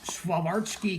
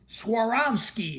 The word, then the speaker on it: Swarovski: because I'm a writer this is smart ski crystal so hey pronounce it not even close as my videographer well Swarovski how's that ah there we go Swarovski crystal and Disney